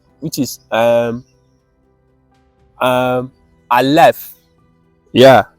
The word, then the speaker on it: Aleph: So for now, we will just go with this pronunciation as Aleph, right?